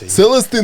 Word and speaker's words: Celestine: did I say Celeste it's not LSD Celestine Prophecy right Celestine Prophecy it's not the it's just Celestine plus whatever you'll just pronounce it Celestine the prophecy yeah but